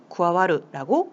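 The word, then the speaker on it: 加わる: 자, 이렇게 해서 더할 가짜를 음독으로 읽을 때는 카라고 읽어주시면 되고요. 훈독으로 읽으실 때는 쿠아에루, 쿠아와루라고 읽어주시면 되겠습니다. 자, 밑으로 한번 내려가 보도록 할게요.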